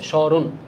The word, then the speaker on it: স্মরণ: ম শব্দের আদিতে রয়েছে তাহলে স্মরণ শব্দের শুদ্ধ উচ্চারণ কোনটা হবে ভাইয়া এইটা এইটা এইটা নাকি কি বলছে ভাইয়া তো শুরুতেই বলছে নাকি স্বরে হবে তাহলে স্মরণ অনুনাসিক হবে স্মরণ রাইট বি শব্দের মধ্যে ম